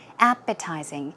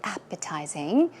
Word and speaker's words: appetizing: If you say a certain dish is very appetizing or savory, now it means that it looks or tastes very, very tasty. Now the pronunciation is appetizing. The stress goes on the first syllable.